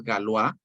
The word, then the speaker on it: Galois: joven que es galúa galúa se escribe galois pero es galúa él muere a los